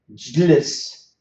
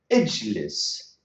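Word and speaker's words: اجلس: The Arabs cannot pronounce jlis. So to sort out this problem, to solve this problem, these phonetic problems, they said we can put what you call it conjunctive hamza. Ijlis, ijlis.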